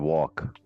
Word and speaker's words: walk: The L is silent. Wall, mall, mill, milk. I've got a Mac.